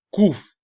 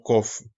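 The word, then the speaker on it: קוף: Por eso aquí la letra Kuf, por ejemplo, sí la ve aquí como con O, pero con dos, que realmente esa es la pronunciación Kuf y no Kof.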